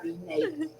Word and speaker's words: Renee: Renate, Renee?